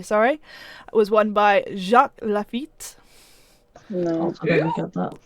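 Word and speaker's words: Laffite: Lafitte? Lefebvre. Nicholas! Nicholas! It's Lafitte. Lafitte. No, that's my time. That would be Italian. He's French. He's French, so they normally Oh. miss the last letter off the end.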